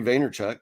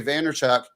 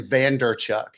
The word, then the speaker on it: Vaynerchuk: Did I say it right this time? Vaynerchuk? I don't know. Probably. Because you made fun of me for saying Vanderchuk. I think you had a D in there once.